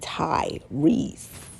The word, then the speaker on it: Tyrese: for that uh but his name isn't spelled t-a-i you get what I'm saying it's spelled t-y-r-e-s-e Ty Reese and Tyrese is also